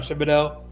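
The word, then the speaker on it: Thibodeaux: They got Kayvon Thibodeau. I think I'm thinking his name wrong. No, you're right. It's Thibodeau.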